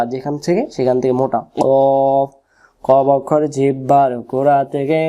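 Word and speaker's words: قاف: আমরা অনেকে এটাকে বলি কাফ আসলে কাফ উচ্চারণ ভুল এটাকে এরকম হবে শব্দ হবে দেখেন কফ জিহ্বার গোড়াটা যেখানে শেষ হবে সেখান থেকে ভেসে আসবে মুঠো গোল করে অফ কফ কঠিনের কিছু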